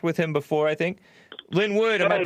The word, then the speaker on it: Linwood: Linwood, am I pronouncing your name right? Yeah, it's my first name. Okay. Yeah, like Linwood, California. Only thing is L-I-N.